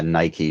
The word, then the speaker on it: Nike: name no it's not it should rhyme it should be said similar because all those Greek God names the e is a long e Aphrodite yeah y y